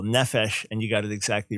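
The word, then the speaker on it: נפש: the bible yeah emphasis so accent the first syllable nephesh and you got it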